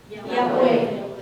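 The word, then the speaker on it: Iakwe: Yahweh. Yahweh. And if you split the words into two, Yahweh, it has two syllables.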